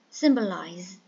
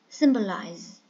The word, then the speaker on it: symbolize: Symbolize. Symbolize. So there are three syllables. The first one is stressed and it is verb, transitive verb.